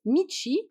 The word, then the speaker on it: 道: il est seul, et To, chemin, voie, V-O-I-E, qui se prononce Michi quand il est seul.